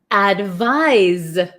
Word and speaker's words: advise: then here we have advise advise so it's so tricky right advice has an S sound but it's spelled with a c advise has a z sound but spelled with an S uh why is English